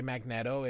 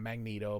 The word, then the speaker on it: Magneto: The reason I say magneetto is magnet with an O. It's not magneto.